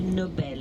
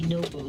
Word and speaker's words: Nobel: the name is pronounced nobel expressed stress on the second syllable so we don't say noble we say nobel the nobel prizes are